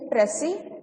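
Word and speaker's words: précis: So talking about Pressy writing, first of all, in the word Pressy, S is silent, right? We do not pronounce it. So it's supposed to be Pressy writing.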